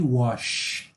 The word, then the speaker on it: wash: Ó, o anterior que eu falei foi wash, ok? Xaxaxixaxu, wash.